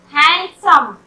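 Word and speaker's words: handsome: हैंडसम, हैंडसम नहीं बोलते हम लोग, हैंडसम बोलते हैं, यहाँ भी डी साइलेंट है।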